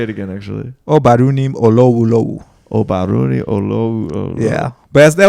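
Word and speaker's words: Ubadhunim Olowolowo: Yeah, so and the way it's pronounced is Obarunim Olowolowo.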